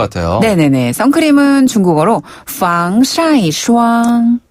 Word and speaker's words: 防晒霜: 선크림은 중국어로 防晒霜. 防晒霜.